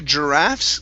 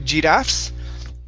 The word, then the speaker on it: giraffes: good let's go to giraffes give me a good r here instead of gdaf's giraffes rough good um next